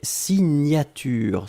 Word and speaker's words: signature: Deuxième chose, un substantif et c'est signature. Souvenez-vous, le GN, la prononciation, c'est gne, gne, gne, gne, gne. Signature.